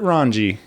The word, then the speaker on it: Rongey: Hanging out today with Garrett Rongey.